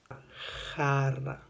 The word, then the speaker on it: jarra: Le J en espagnol, J, a un son très pareil à la R française, prononcée de façon raclée, comme quand on ronfle. Jarra.